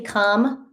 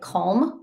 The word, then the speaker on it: calm: And some people say come. I don't pronounce it like that. I pronounce it like calm, but when I talk text it, it sounds like comb, c o m b. But I am saying calm.